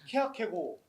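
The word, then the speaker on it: Kierkegaard: 목사님 아 대마크 발음은요 케약해고 케약해고 뒤발음이 안 납니다.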